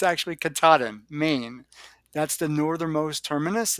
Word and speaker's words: Katahdin: It's 14 states long, and I think I pronounced it incorrectly in the video, and so I'm going to have to correct myself. It's Katahdin, uh, or no, it's not. It's Katahdin because I always say Katahdin, and it's actually Katahdin, Maine.